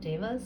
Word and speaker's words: Devas: I think it's pronounced Dewas, but I feel more comfortable calling it Devas, so that's what I will be saying.